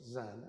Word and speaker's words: Zen: Zen is dhyana. It's the Japanese pronunciation of the Sanskrit word dhyana, which means meditation.